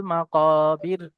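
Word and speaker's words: مقابر: কফ উচ্চারণ করার সময় ঠোঁটটা গোল হয়ে যাবে।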